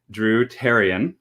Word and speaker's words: Dru Therrian: guest joining us today drew tarion that's correct h is silent so like terry herbitarian